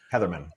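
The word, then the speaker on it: Hetherman: Matt, up front, obviously new defensive coordinator Cory Heatherton comes in from I that's the way I pronounce his last name. Heatherman. Yeah, Heatherman. Thank you.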